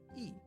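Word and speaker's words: い: This is I, or E. It is the equivalent of the vowel I in English. You pronounce this as E.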